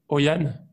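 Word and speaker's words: Hội An: grand plaisir asis depuis alors ça se prononce oyan voilà là je suis à oan donc h o i donc est plus loin à N donc oan au Vietnam et donc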